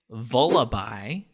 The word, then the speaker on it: Vullaby: Okay, so this Pokemon is Vullaby. Huh? What? And it's spelled like lullaby with a V as in Victor at the beginning.